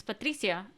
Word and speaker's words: Patricia: know my name is patricia and people are like what okay because people accept patricia you know um but i try to say it like how i say my name in spanish i don't know but